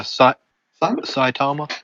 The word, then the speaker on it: Saitama: basically or not no that's not how you pronounce his name one punch man what what's his name again yeah saitama saitama that's the one saitama bruh okay so